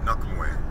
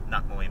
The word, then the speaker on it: Nak Muay: Well, actually, the when a K or a G is at the end of a syllable, then it's pronounced identically.